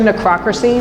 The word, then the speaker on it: necrocracy: title of the show necrocracy lines with democracy except no one knows